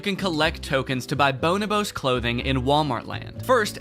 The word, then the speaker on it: Bonobos: Where you can shop for clothing from real-life clothing brands like Bonobos. Wide leg jeans, Bonobos sweatpants. Is that how you pronounce it? I looked it up afterwards, and it is not. Bonobos.